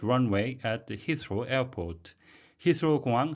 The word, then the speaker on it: Heathrow: 영국의 제1공항, 우리말로는 히스로 둘 다 통용이 되는데요. 영어식 발음은 히스로가 되겠습니다. Rules on noise, air quality and carbon emissions.